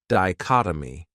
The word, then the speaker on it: dichotomy: This word has four syllables and the stress is on that second syllable. Dichotomy. That third syllable has that schwa, that uh sound.